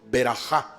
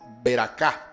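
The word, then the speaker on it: ברכה: Por ejemplo, la palabra bendición se dice en hebreo berajá. Berajá. Los judíos españoles o sefarditas lo pronuncian así, berajá. Los askenazí, judíos de Alemania, de Francia, de la Europa oriental, pronuncian es beracá. Beracá, ¿sí? Un poco más fuerte. En vez de decir berajá, dicen beracá o beraca.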